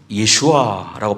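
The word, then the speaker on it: יְשׁוּעָה: 구약 성경에서는 구원이란 단어를 예슈아라고 발음하고 신약 성경은 소테리아.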